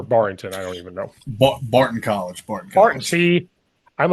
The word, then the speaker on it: Barton College: He is the offensive line coach, run game coordinator at, probably say it wrong, Barrington College. Did I say it right? Or Barrington? I don't even know. Barton College.